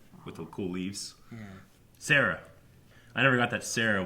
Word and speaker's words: Cera: Sarah. I never got that Sarah was because Triceratops. Yeah, her name is spelled C-E-R-A.